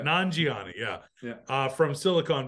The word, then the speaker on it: Nanjiani: one and that's Kamil nanjiani okay I think I'm pronouncing that right yeah non-gioni yeah yeah uh from